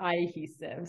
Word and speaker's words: Eyehesive: Yeah, it's like cohesive, like sticking together, but Eyehesive.